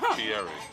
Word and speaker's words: Fieri: I watched the one with Guy Ferrari earlier. Just for reference. That's not how you pronounce his name. Is just for reference. Fieri.